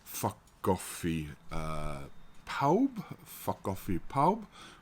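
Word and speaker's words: Ffa Coffi Pawb: F coffee pow which means everybody's coffee beans but phonetically sounds like something else in in English ears probably why um and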